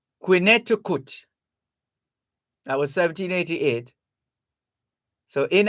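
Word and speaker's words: Quinnehtukqut: it or it was translated as q-u-i-n-n-e-h-t-u-k-q-u-t quineticut that was 1788 so in American Indians speak that's how it was spelled and pronounced quineticut well today it's known as Connecticut or as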